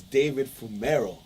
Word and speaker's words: Fumero: It's David Fumero. Did I pronounce the last name correctly?